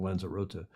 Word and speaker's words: Lanzarote: Locally is a Spanish, the local pronunciation, Lanzarote, is a Spanish island, the